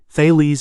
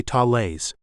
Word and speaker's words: Thales: By the way, Thales is an English pronunciation. If you want to sound Greek, you can say Thales.